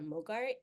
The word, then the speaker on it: MOGRT: and you can download something called a Mogart. It's spelled MOGRT.